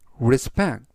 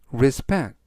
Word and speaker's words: respect: 나의 최근 사진 앨범이라는 뜻이 되겠습니다 이번 단어는 respect respect respect라고 발음하시면 되겠고요 이때 강세는 뒷부분에 있는 알파벳 2의